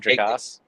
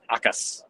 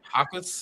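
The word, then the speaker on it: Jacas: It is not Jakas. It is Akas. I knew it was a word. Yep, Gabe Hakas. The J is silent.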